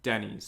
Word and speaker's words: Denys: Denny's.